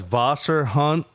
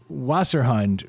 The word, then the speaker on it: Wasserhund: Wasserhund is how that WASS. Phonetically. ERHUND. phonetically for English people. But in German, it's Wasser.